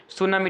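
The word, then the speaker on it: tsunami: सुनामी ठीक है ना सुनामी ठीक है ना जिसमें टी जो है साइलेंट होता है अगला प्रश्न क्वेश्चन में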